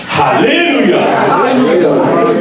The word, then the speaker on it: Alléluia: Alors, c'est pas comme ça que ça se prononce. Le mot en anglais a un H. Et le H doit être prononcé. On doit prendre de l'air, remplir nos poumons d'air, utiliser notre diaphragme pour supporter l'air et dire Alléluia.